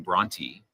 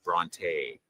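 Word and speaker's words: Brontë: And Bronte would have been pronounced Bronte, and so they spelled out Tee, not Bronte.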